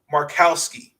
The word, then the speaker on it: Markowski: have it right just make sure that i pronounce this correctly hold on give me one second alexis markowski she's averaging 12 points and six rebounds seven